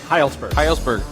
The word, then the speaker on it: Hejlsberg: Hejlsberg? Hejlsberg, yeah.